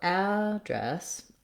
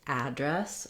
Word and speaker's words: address: a vowel here so address um the second syllable has the vowel like in red or like in the word dress so the vowels don't